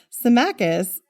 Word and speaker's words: Symmachus: Symmachus No, you just said it right.